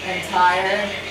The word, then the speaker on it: Entire: Entire is like entire and empire. Rhymes with empire.